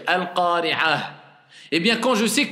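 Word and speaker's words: القارعة: Eh bien, quand j'ai le ta comme ça, je dis hasibah, al-qari'atu. Normalement, c'est comme ça, mais je dis al-qari'ah.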